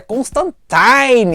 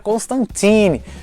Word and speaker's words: Constantine: agora na série da Netflix do sandsman a pronúncia correta é Constantine eu falei a vida inteira Constantine mas é de acordo com o new Gamer